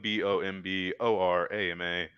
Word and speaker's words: Bomborama: Everyone pronounces it wrong. I ended up changing it to Bomb just for Spoon and Twitch. Wait, so it's not Bomborama? It's on Bomborama on YouTube, but I just shorten it everywhere else. Because people can't pronounce Bomarama. Nope, people cannot pronounce it.